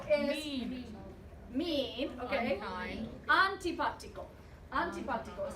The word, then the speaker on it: antipático: Antipático is how you say that.